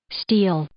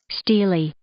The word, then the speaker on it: stele: pronounce this word stele let's see what Miriam Webster has to say steel Steely steel or Steely interesting okay okay the platform